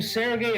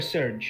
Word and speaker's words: Serge: do we pronounce him Sergey or Serge? I I think it's Serge because someone pronounces you as Sergey with a Y at the end, but that's also like